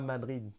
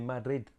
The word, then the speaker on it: Madrid: Ou alors, les Espagnols, quand ils prononcent leur capitale, c'est Madrid. C'est pas Madrid, c'est Madrid. Cela reste assez compliqué à